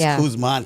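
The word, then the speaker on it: Kuzma: Ford for the Wizards there's no n on the end of his name I wrote it down right I said it wrong I apologize guys she can't talk today remember it's kman cuz he's the man yeah the man that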